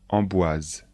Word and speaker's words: Amboise: et le château d'Amboise attention de bien prononcer les noms de Château répétez après moi chambor le château de chambor Blois le château de Blois Chenonceau le château de Chenonceau Amboise le Château d'emboise Le